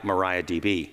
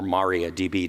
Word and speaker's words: MariaDB: Some people like MariaDB or MariaDB, depending on how you say it.